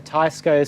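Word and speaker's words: Teisco: tesco spectrum and um no one knows how to pronounce tesco by the way like some people say tysko some people say esko i say tesco um like the supermarket brand right in the uk yeah that's what i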